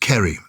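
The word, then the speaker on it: Ceri: from Cherry it's a c-e-r-i okay I think it'll be pronounced Kerry hello Susie and Giles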